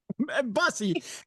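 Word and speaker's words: Bussey: But but some people may look at it and go, "Bussy, Iowa." Busussy, Iowa. Busy.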